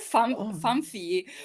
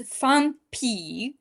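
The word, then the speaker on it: Phanpy: also like mispronounced my favorite Fediverse web client, Fampi, because I called it Famfi or Fampi. No, it's Fampi by Chion.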